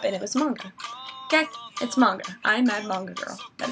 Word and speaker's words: manga: It is not pronounced manga. It is manga. It's a long A, and it's not manga, or it's not manga.